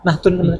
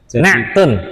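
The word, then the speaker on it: نعت: Naktun. Ain. Nak. Oh, naktun. Naktun ya. Ain ya. Naktun. Tun apa naat Ustaz? Oh, bacanya bahasa Arab naktun. Naat itu bahasa kita. Oh. Di Indonesiakan maksudnya. Iya. Aslinya naktun.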